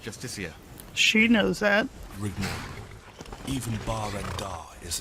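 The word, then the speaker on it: Justiciar: this ass clown he's a jestica a thalmor it's pronounced justicia she knows that even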